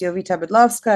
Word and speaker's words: Jowita Bydlowska: uh called drunk mom uh my name is yita Bova it's pronounced differently that it's spelled but hopefully you